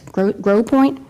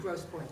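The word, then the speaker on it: Grosse Pointe: And how do you pronounce this? Grow Grow Point. Gross Point.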